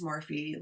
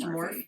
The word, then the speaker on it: Morphe: brand I think it's morphe like it looks like it should be pronounced morph no they said Mor yeah I think it's